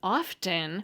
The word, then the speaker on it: often: as well what we found is that the pronunciation often with the t is vastly preferred speakers report